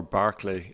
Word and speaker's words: Berkeley: who's the irish philosopher george berkeley or barclay as he's pronounced in britain and ireland according to loch and